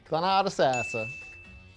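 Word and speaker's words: Thonotosassa: Thonotosasasa. It's not Tallahassee. Thonotosasa. Did they just like create this sound? Thonotosasa, not a knot in the center. Common misconception, don't read the word.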